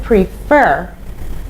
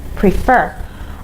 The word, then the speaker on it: prefer: to the pronunciation so the stress is on the second syllable so you say prefer prefer okay so you say